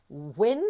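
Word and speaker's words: UYN: Wyn, I think it's pronounced, U-Y-N.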